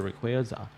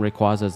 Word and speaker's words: Rayquaza: he said option one so the people who say Rayquaza sorry you're saying Rayquaza's name wrong it is Rayquaza not Rayquaza Rayquaza my Okay.